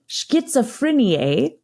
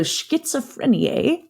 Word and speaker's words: Schizophrenie: But essentially, the German Z pronunciation sounds very T-like in English. But there's no T. Right. So Schizophreniae for German.